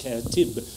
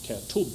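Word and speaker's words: كاتب: Oh, then it's spelled, then it's pronounced katib and not katub or katab or something like that.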